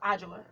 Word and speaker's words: Ajua: Yeah, so it's actually pronounced the Ghanaian way is Ajua.